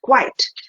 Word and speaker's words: quite: the pronunciation is different one is quiet in two parts and this is quite in one part so this has only one part and we say quite and we use it